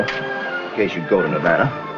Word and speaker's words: Nevada: You dance very well for a man from Nevada. By the way, that's pronounced Nevada. I notice you give it the broad ah.